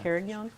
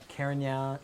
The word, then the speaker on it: Carignan: How come the Italians say Carignan sometimes? Carignan. Carignan. The grape is still widely planted in France, and Oh, yes. but Spain, Yes. big time But Spain. Spain, yes. Spain, Or and it's spelled yeah. with an E at the end.